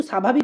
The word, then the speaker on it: স্বাভাবিক: আমি যদি বলি স্বাভাবিক এখানে কিন্তু স্বাভাবিক উচ্চারণ করছি সেখানে কিন্তু দন্তস্বর সঙ্গে যে বফলা যুক্ত আছে স্বাভাবিক এভাবে উচ্চারণ করছি না স্বাস্থ্য এইভাবে উচ্চারণ